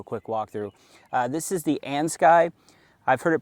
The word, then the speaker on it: Andsky: This is the Ans Sky. I've heard it pronounced Andsky. We're gonna go with Ans Sky S700.